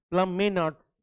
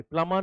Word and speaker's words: Plamenatz: प्लमेनार्ट्स. Just a small correction please make. John Plame, PLAMENATZ. That is the correction. एक ई आएगा यहाँ पे, प्लामा नहीं, प्लमेनार्ट्स. ओके, शायद ये है नाम, एक बार देख लेंगे.